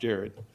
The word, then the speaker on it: Gerard: And as Jared comes up, you're going to see that his name is spelled Gerard, but he informed me that his mother called him Jared, so it's pronounced Jared.